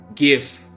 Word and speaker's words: GIF: actually actually a new GIF. Let's let's just say it is pronounced gif.